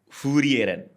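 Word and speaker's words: Frieren: Eh, lagi-lagi bacanya apa kalau versi Jepang? Heeh. Furieren f furieren kan enggak Jepang kan enggak bisa F sama R furieren sama gitu kan benar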